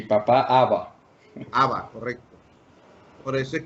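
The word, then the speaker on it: אבא: Y yo no sabía cómo se pronunciaba también mamá en hebreo. Y los hebreos, mame. Voy donde mame. Mame. Y papá, Abba.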